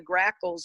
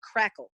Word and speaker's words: grackle: redwing blackbirds and the grackles in fact one of my first bird names i could actually pronounce was grackle except i said crackle and it just went